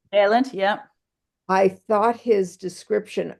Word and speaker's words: Vaillant: The chapter 14, Vaillant, is that how you pronounce his name? Vaillant, yeah.